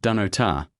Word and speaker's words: Dunnottar: Pronounced Dun-no-tar, with the emphasis on the middle syllable.